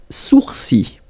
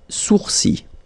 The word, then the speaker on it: sourcils: Les sourcils. Les sourcils. Okay, so it's quite strange because you get this LS at the end, but then, well, you don't pronounce them. Les sourcils.